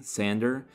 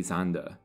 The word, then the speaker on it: Sander: use the Americanized pronunciation of her last name sander the German pronunciation is as I said Technically zanda when she was old enough she enrolled in